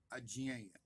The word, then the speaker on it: अज्ञेय: अज्ञेय मराठी में अज्ञेय, हिंदी में अज्ञेय। उसका मूल उच्चारण अज्ञेय है।